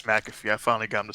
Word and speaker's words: McAfee: to do with you two it's mcafee it's mcafee i finally got to say it right oh